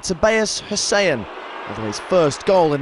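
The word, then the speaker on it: Tobias Hysén: they certainly showed resilience in sweden they pronounced it tobias hussain although his first goal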